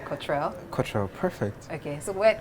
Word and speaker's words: Kotrell: hi cultural how are you hello am I pronouncing it right Cottrell cultural perfect okay so where did that name